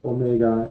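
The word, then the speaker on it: Ωμέγα: ejemplo después tenemos Omega el nombre es Omega el sonido que hace es la o larga un ejemplo sería o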